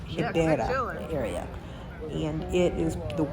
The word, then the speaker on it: Ribeira: It actually spells like in American, I would pronounce it as Riviera, but it's actually pronounced Ribeira area.